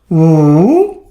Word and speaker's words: 五: Third tone, woo. Fourth tone, woo. The one with yellow highlighter actually it's the correct pronunciation of this character.